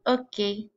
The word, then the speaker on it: hockey: Remember the H is silent in French, so try and say that with me. Le hockey.